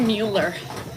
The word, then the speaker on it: Mueller: I have the Mueller. Rhymes with Bueller.